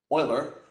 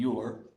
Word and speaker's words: Euler: Both named after our most mispronounced mathematician, Euler, opposed to Euler.